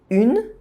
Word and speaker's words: une: Une, I, as the last letter of a word, is silent. So the word une ends in a consonant sound.